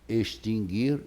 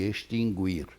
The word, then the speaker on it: extinguir: Extinguir e extinguir. Ora, esse U não pode ser proferido, embora seja proferido e embora seja até registrado nos dicionários.